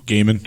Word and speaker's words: Gaiman: How do you pronounce it? Gaiman.